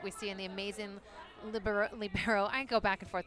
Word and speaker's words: libero: I mean, when Karch Cry calls it the libero, how do we argue with that? It's not how it's spelled. No, but it's from the word free in Italian, which is pronounced libero, right?